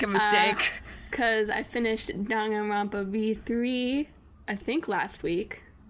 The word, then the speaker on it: Danganronpa: Danganronpa. Danganronpa. So in Japanese, N is a syllable. Yeah. So Danganronpa.